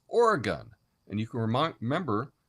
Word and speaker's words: Oregon: you say ah welcome I'm in Portland Oran or Oregon you're going to get booze because that's not how you say the name of the state the state is Oregon and you can REM